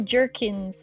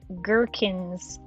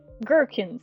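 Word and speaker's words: gherkins: Gerkins like Birkenstocks. So, not not Jerkkins like jerky, but girkens like Birkenstocks. Okay. Okay. Okay. Well, sweet Gerkins.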